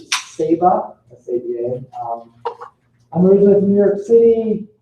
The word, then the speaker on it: Saba: My family pronounces it Saba, S-A-B-A.